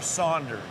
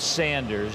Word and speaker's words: Sanders: for me all right is it Sanders or Saunders it's Sanders there is no you in it I was you know